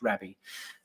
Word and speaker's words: Rabby: I think it's pronounced rabi wallet as someone here Victor in the comments and I have seen rabby wallet I think it's no it's rabby uh I have seen